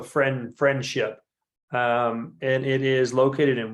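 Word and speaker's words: Frenship: I know it's not spelled like friendship, but it sounds like a very friendly place. Yeah, FREN. So friendship.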